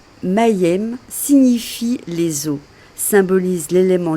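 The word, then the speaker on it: מם: Prononcée Mayem signifie les eaux.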